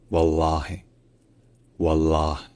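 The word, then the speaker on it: والله: troisème différence c'est que le h à la fin en arabe classique il est en général prononcé comme un H parce que techniquement il est suivi par la voyelle i mais qui est souvent auise donc en arabe encore une fois ça devient wallah wallah alors que en arabe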